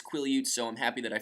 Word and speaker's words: Quileute: I finally got the pronunciation of the reservation that the blacks live on. Quileute. I always said Quillette when I was reading the books.